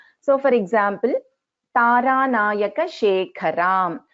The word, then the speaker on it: Shekharam: So for example, Taranayaka Shekharam. So here Kha is a Mahaprana.